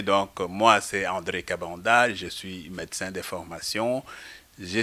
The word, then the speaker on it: Kabanda: suit docteur euh ben mon nom vous l'avez prononcé donc moi c'est André cabanda je suis médecin d'information je suis dans l'UDPS